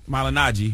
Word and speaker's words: Malignaggi: How you pronounce Paulie's last name? Malignaggi.